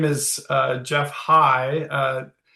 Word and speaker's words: Heie: So, um, my name is, uh, Jeff Hi. Uh, it's a tough last name, Liz, so don't feel badly. Um, it's spelled H EI and uh it's a Norwegian name and so I have to blame my ancestors for that spelling.